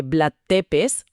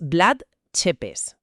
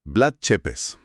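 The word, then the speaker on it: Vlad Țepeș: Porque casi todo el mundo dice Blad Tepes, pero la pronunciación correcta, según le corrigieron al narrador de nuestra fuente, es Blood Chepes. Blood Chepes.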